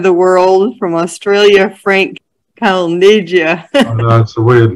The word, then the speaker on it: Calneggia: world from australia frank calnegia that's a weird name but uh never mind it's my opinion so that's an italian pronunciation uh it certainly is